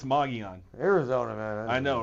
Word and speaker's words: Mogollon: They lost to Mogollon, which is spelled Mogollon, so I don't know if I'm saying that right. I don't know. They tell me it's Mogollon.